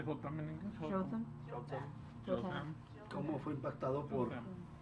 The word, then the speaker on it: Jotham: Jotham.